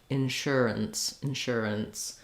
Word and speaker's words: insurance: So for the N sound, what we want here is short, long, short. Insurance. So that we go from the and then we do an N and a S sound together. Letter CE say S.